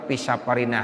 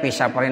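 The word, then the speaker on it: في سفرنا: allahumma inna Nas aluka fisafarina Haza ya albira jangan bacanya visa parin Hazar diri jangan ya allahumma inna Nas aluka pisaparin jadi yang diminta sama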